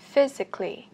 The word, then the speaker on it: physically: Physically, physically, đây là một từ có 4 âm tiết. Physically cho âm 1 và challenged cũng chậm một nhé các bạn.